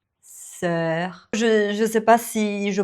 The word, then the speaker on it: sœur: Donc, cœur, sœur. Mais j'ai appris une astuce. Il faut le prononcer en laissant vraiment la bouche un peu ouverte. Donc, cœur, sœur.